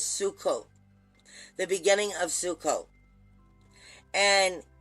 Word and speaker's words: Sukkot: it fits this energy perfectly because if i'm pronouncing it right it's sukkot the beginning of sukkot and it lasts for